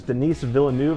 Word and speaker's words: Denis Villeneuve: the director of this movie his name is Denis Villeneuve I think that's how you pronounce it he's come out with two movies